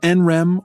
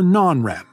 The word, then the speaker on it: NREM: Our sleep is divided between REM sleep and NREM sleep, which you can pronounce NREM or non-REM.